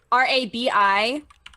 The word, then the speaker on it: Rabi-Ribi: And how the fuck do you spell that? RABI-RIBI.